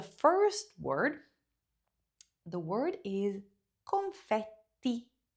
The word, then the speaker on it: confetti: The word is confetti. Pronounce it like you would in Italian. Confetti. Okay? So, not confetti. There's no d. There's a t confetti.